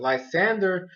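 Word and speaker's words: Lysandre: battle ends up stopping because lesandre or lysander that's what that's how they pronounce that lysander shows up and apparently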